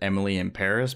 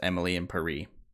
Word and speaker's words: Emily in Paris: supposed to pronounce it Emily in Paris because it's a. It's a rhyme, so it's Emily in Paris. Like if you were pronouncing it like a French person.